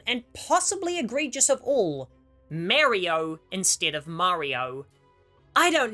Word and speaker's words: Mario: Mario is an Italian word, and many Italians immigrated to America, so their dialect took over, leading to the correct pronunciation coming from the States. But in England and Canada, vowel sounds tend to be shorter, leading to a much smaller emphasis on the R sound, meaning that Mario sounds